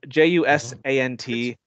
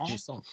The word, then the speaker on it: Jusant: It's spelled Jusant. It's French. Jusant. It's definitely French.